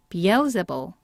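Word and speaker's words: Beelzebul: 예전에도 한번 나왔던 단어예요 여기 SS 보통 이렇게 s가 두 개 나오게 되면은 싸고 이렇게 시옷 발음이 많이 나거든요 그런데요 단어는 아주 특이하게도 s가 두 개 나왔어도 지읒 발음이에요 그래서 여기까지가 세가 되고요 그 다음에 S 이때 두 개 있는 s는 그냥 시옷 발음이고요 그 다음에 이때 d는 생긴 건 d지만 티읕으로 발음해 주셔야 됩니다 그래서 이렇게 되는 거죠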